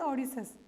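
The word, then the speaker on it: Odysseus: ठीक है, इसको हाउ टू प्रोनाउंस दिस, ओडिसस.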